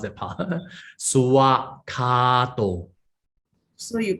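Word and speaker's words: svākkhāto: the swakato, some they will pronounce as suwa. They will chant it as suwa, not swa. The more properly is suwa. Okay, you had to pronounce that part. Suwakato.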